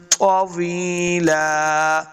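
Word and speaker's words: طَوِيلًا: غنہ کریں گے، سبحن طویلا، تو حروف مستعلیہ سے ہیں، ہم نے اس کو موٹا پڑھنا ہے، تو طوی، بہرحال پریکٹس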